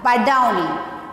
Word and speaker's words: Badauni: So once again, repeating I how to read and how to pronounce it. See here, B A D A U N I. It's a Badauni.